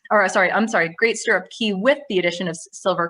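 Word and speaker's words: Stirrup Cay: more domestic we have great stirrup key as the bohemians pronounce it this is norwegian's private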